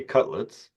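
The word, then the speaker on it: Cudlitz: And you mentioned Lex Luthor is played by Michael, if I get the name wrong, correct me, Cutlets. Because it's yeah. Cutlets.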